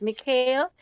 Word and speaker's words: Mikhail: But what you can do to remember though, it's Mikhail. So you have Hail and then you have the Mick. So it's Mikhail, Mikhail.